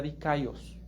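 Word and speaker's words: δίκαιος: Esta palabra en griego se pronuncia dikaios.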